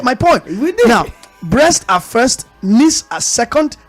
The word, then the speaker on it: Brest: Well, it's Brest.